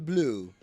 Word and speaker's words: Bleu: My name is Corbin Blue. What? BLEU. Yeah. It is BLEU. That is how it's spelled, yes.